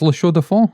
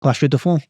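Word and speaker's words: La Chaux-de-Fonds: So you have to say it with a bit of a French accent.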